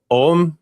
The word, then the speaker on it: Ogham: and the the Celtic Om.